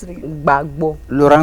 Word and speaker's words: Gbagbo: How do you pronounce it again? Gbagbo. Laurent Gbagbo.